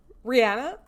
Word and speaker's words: Rihanna: name is it yeah it's Rihanna according to Rihanna it's I swear pronunciation yeah look I'm texting this to you okay well you know I have a special bond with I I don't think I could say Rihanna it's Rihanna that's how you say her name okay we were born